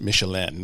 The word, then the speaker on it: Michelin: Like, and then you pronounce it Michelin. It's a little bit more fancy when you talk about the stars.